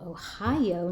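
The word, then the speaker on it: おはよう: But Ohio, it kind of sounds like the state Ohio, but spelled differently.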